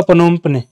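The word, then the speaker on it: Phnom Penh: आते आते ये आपका पनोम पने, याद रखना है पनोम पने जो भी है आप इसको प्रोनाउंस करो।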